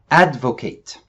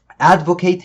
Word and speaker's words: advocate: الناون بتتنطق advocate والverb بتتنطق advocate.